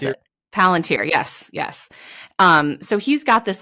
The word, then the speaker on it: Palantir: like Peter Thiel, who owns what's it called, Planeteer? I always forget how to pronounce it. Palantir, yes.